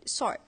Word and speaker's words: sword: While in Indonesia, we have, for example, the word sword. Indonesian pronounce the word sword as sword. They do not silence the W because it's hard to pronounce the word without the W sound.